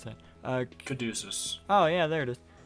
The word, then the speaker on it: Caduceus: I don't know how to pronounce that. Caduceus.